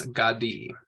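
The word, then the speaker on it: גדי: So with this one, it is Gadi. And so it has that hirik under it with that yod.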